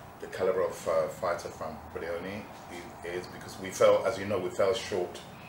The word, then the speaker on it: Buglioni: So, the G, it's not Bugli, it's Buglioni.